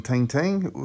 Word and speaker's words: Tintin: Tintin, or to give him his French pronunciation, Tintin, first appeared in printed form on the 10th of January 1929, where he went on to have his first landmark adventure.